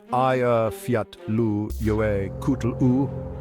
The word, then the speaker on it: Eyjafjallajökull: Pronounced Eyjafjallajökull, it literally means Island Mountains Glacier.